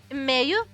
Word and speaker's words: meio: Meio? Meio. Okay, so you pronounce it in, okay, meio.